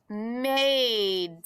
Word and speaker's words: made: There's a silent E at the end. And his job is he jumps over. He makes the vowel say its name, not his sound. So we say made.